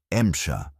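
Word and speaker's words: Эмча: Soviet crews called it MSHA, their pronunciation of M4C.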